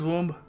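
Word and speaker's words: womb: कहते हैं वूम मदर्स वम यस इट इज the mother's वम नहीं बी साइलेंट है और हम इसको बोलेंगे वूम वूम अगला शब्द है सलोन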